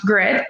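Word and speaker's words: Gryt: the program director at grit health um pronounced grit but spelt g-r-y-t um and so my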